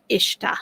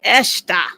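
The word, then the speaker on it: قشطة: So she's probably saying it like Ishta and that's and that's probably like a like a Kuwaiti pronunciation. Ishta, right? Well, in Egypt we say eshta like with an ehta and you can say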